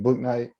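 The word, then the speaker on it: Bouknight: Book Night.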